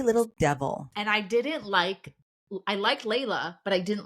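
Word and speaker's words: Laila: Layla is spelled L-A-I-L-A instead of L-A-Y-L-A. They call her Lila? Everyone calls her Lila, which I actually did on purpose. Long story. But I'm just like, it's Layla.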